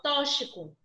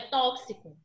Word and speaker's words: tóxico: Eu já ouvi pessoa falar assim, tóxico. Se ele pronuncia dessa forma, quando ele for fazer a transcrição fonética, ele vai escrever errado. Porque o som vai mudar, não é tóxico, é tóxico. Certo?